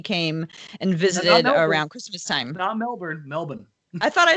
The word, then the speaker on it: Melbourne: on Blazers edge is from Australia he's from Melbourne and he came and visited around Christmastime Melbourne Melbourne I thought I said Melbourne that's a